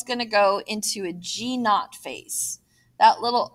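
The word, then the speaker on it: G₀: the cell is going to go into a g not phase that little o that you see there is pronounced not n a u t if you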